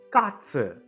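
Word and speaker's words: Katze: அடடடா முதல் பைஸ்பீடு காட்ஸ் இந்த காட்ஸ்ன்ற வார்த்தையில எத்தனை எழுத்து இருக்கு? கா ஆ டே செட் ஏ இருக்கு இல்லையா? இப்போ இந்த கான்றது என்ன? ஒரு கான்சனன்ட் தமிழ்ல மெய்ெழுத்து. இந்த கான்ற சவுண்ட்ல இருந்து மெய்ெழுத்து எப்படி எடுப்போம்?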